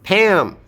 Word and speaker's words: Pam: Okay, note that it is aspirated. Okay, we have a and Pam. You can add a stress. Why would we add a stress? Because Pam is a 实词. If you put Pam in a sentence, we're going to stress her. There is no way we would leave Pam unstressed in a sentence like, hey, Pam is here. Pam is going to be stressed no matter what.